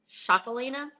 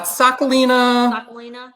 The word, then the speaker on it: Txakolina: take you back and i noticed that you pronounced it differently than we pronounce it here what which you said shakolina uh sakulina yeah it's kind of like yeah uh you can call it chocolina sakulina you know it's my basque